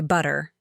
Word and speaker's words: butter: I used to say it with a hard tur but Americans say butter.